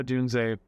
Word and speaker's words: Odunze: a great starting six, and I do like Odunze, or is that how you say it? Yeah, Odunze, you're right.